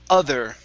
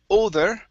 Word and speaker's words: other: go to the word other right here instead of oh older okay the uh the o on this word is going to be uh other other father there you go other